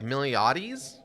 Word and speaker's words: Miltiades: about how it's like Miliades, which is interesting. Like the T is silent.